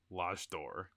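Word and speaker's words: L'Âge d'Or: Uh, let's talk about uh why don't you pronounce this actually, Mr. Lordor or Large Door?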